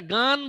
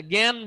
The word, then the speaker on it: জ্ঞান: এটা গান বলি না, জ্ঞান বলি, জ্ঞান। তাহলে এখানেও কিন্তু একটা উচ্চারণ